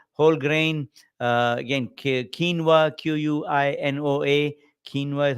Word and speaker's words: quinoa: uh high fiber whole grain uh again quinoa q-u-i-n-o-a quinoa is how we pronounce it uh and then protein breads are